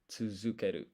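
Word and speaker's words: つづける: Because this is pronounced zu, but if you actually want to write it, the romaji is du.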